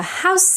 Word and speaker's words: house: House ends in a voiceless S. House. However, when you make the plural, it becomes voiced, actually. Houses. But if it's just one house, then it's still voiceless, yeah?